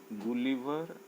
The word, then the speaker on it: गुलिवर: आज हम लोग क्लास 5 इंग्लिश बुक से एक चैप्टर पढ़ते हैं, गुलिवर एंड द लिलीपुटियंस। गुलिवर spelling पर ध्यान दिया जाए।